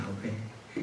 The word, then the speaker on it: 야훼: 원래 여호와를 정확하게 발음하면 야훼입니다. 야훼.